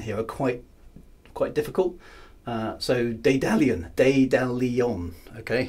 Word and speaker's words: Daedalion: So, Daedalion, okay? Emphasis on the second syllable.